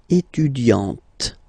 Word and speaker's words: étudiante: Okay, but then for the feminine form, elle est étudiante. Okay, t, t, t. Okay, you don't really insist on the e, but you insist quite much on the t.